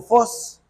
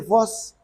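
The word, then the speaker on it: φῶς: que se pronuncia más o menos como fos, así se dice, fos.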